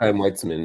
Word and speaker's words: Chaim Weizmann: of the people, especially like you mentioned Jabotinsky, Chaim Weizmann, I don't know if I'm pronouncing his name correctly, but Chaim Weizmann, that's right.